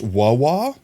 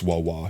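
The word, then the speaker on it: WuWa: It's pronounced Waw Wa. Oh, that makes sense. Wthering waves. Wahwa.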